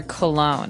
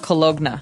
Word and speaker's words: cologne: o g n e so you don't really say the g it's not cologna right it's cologne and it's something that